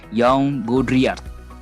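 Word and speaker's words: Jean Baudrillard: agak susah nih ya tulisannya jajan baudrillard atau bakal bacanya Young godria ya tolong 24-1 filosuf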